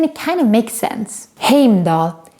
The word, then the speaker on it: Heimdall: kind of makes sense heimdall is pronounced and spelled pretty correctly in the movies heimdall had the best